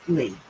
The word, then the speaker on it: Leigh: Leigh, Bob, is pronounced Lee.